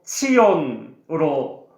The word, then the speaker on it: 시온: 의미를 가지고 있을까 궁금하시죠 먼저 시온은 히브리어로 치온으로 발음이 되고 그 뜻은 요새 성벽이라는